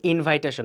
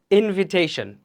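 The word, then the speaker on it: invitation: একটা ইনভাইটেশন letter পাঠাইছি এটার উচ্চারণ কিন্তু ইনভাইটেশন না এটার প্রকৃতি উচ্চারণ কি হবে একটু দেখে নেইটার ইনভিটেশন এটা কিন্তু ইনভাইটেশন না ইনভিটেশন ইনভিটেশন পাওয়ার পরে তারা দুজন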